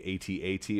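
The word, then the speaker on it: AT-AT: want it can be atat or it can be at at they both are valid although it's never at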